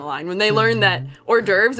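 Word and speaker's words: hors d'oeuvres: That gives them a funny story they can tell later down the line when they learn that or derves is pronounced not as horse divorce.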